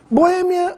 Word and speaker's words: Boêmia: mais usada sem acento Boêmia ou Boemia essa palavra pode ser escrita com ou sem acento ambas as formas são corretas Mas no caso temos